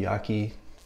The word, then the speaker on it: Yaqi: is a 24 millimeter yachty Yaki I say yachi I think yachi is the right way to say it uh with